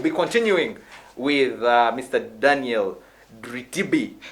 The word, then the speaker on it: Dritibi: Daniel Dritibi. Have I pronounced it well? Yeah. Dritibi, yes. Dritibi, actually, yes.